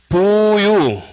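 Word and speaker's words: 復有: 부유, 그때 또 이제 복자라고 읽으면 안 되고, 뭐라고 읽어야 됩니까?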